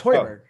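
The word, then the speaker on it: Højbjerg: No, it's Hoiberg.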